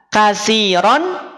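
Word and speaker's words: كَثِيرًا: Kenapa dibaca kasiro? Lihat ketika ada alif. Nih, ini juga ada alif. Kemudian harokatnya dia tanwin fathah, maka dibacanya jadi kasiro.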